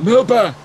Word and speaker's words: Millbee: Milba. So, it's spelled exactly the same, but pronounced very differently.